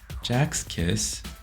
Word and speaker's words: Sechs Kies: Though their name is likely pronounced differently in German, or maybe even in English for that matter, I'll be pronouncing it as Sechs Kies in this series, similar to the Korean pronunciation.